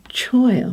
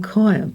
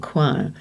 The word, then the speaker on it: choir: Or this one should say choir or even choir, but certainly not choir.